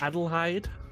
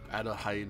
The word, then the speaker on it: Adelheid: I may be mispronouncing because it's more like Deutsch. Adelheid. Adelheid or something like that, yeah. Which is just German for Adelaide.